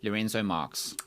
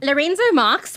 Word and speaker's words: Lourenço Marques: Pronounce it, but what South Africans have said for the longest time is Lourenço Marques. All right, as a Lorenzo Marques. Okay, Yeah. from Lorenzo Marques, which is now Mapito.